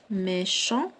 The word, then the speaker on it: méchant: Méchant. Donc عندي واحد T à la fin ما كتنطقش. Méchant.